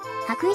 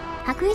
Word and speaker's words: 羽咋: 毎回読み方忘れるんですよね羽咋市ですここには浜辺を車で走れる場所があるらしい千里浜なぎさドライブウェイ気持ちいい景色ですね羽咋市のホームページでは水平線